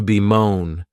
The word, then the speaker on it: bemoan: The next verb is to bemoan, and this verb has 2 syllables, and the stress is on that second syllable.